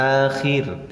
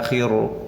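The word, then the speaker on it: الآخر: Bacanya akhir, tidak akhiru, akhiru. Beda ya.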